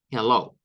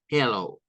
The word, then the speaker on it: hello: o low I love Hello con el sonido e como una e del español y esa que se vuelve un sonido o o Hello ahora hay algunas variaciones